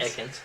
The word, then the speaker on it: Ekans: You say it like Ekans. Ekans.